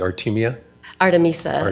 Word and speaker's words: Artemisa: Artemisa is how we pronounce it. Artemisa, okay. No, it's okay. Artemisa.